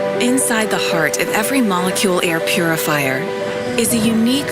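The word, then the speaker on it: Molekule: like this but there's a company called the molecule and it's spelled k m-o-l-e-k-u l e um and it's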